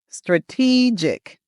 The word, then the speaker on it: strategic: It's strategic. The emphasis is on the second syllable. So, make sure you make that long e sound.